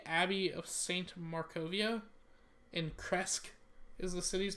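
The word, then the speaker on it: Krezk: Kresk.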